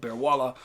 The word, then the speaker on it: Bearwallow: bear walla mountain today bear wallow mountain is outspelled but bear walla is how you're going to say it because that's just how it is it's a short a